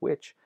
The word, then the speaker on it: which: of these silent letters for the silent H in a word like which that's a related to this process of initial consonant clusters being reduced the initial just means at the beginning of a word so when you had a qua that's the traditional translation award like which not that H is dropped in words like that began with a good 'no or Acuna